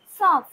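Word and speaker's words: सौंफ: মৌরিকে আমরা হিন্দিতে বলবো সফ সফ। এখানেও দেখুন যে আমরা উচ্চারণ করার সময় কিন্তু নাকে তোলা উচ্চারণ হচ্ছে সফ। বানানটা হবে দন্তস্বয় ঔকার, এই বিন্দু দিলাম সফ। এখানে উচ্চারণ হবে কি সফ, SAUAF সফ।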